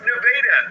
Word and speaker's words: Nevada: Yes, that's pronounced Nevada.